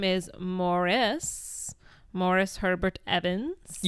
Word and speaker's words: Maurice: point of contention where people would say Maurice and he's like it's pronounced Morris.